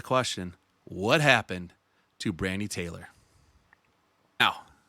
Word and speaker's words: Talore: what happened to Brandy Taylor now her last name is spelled Taylor is Taylor but it's spelled it looks like it's spelled Tor but it's Taylor but I'm I'm going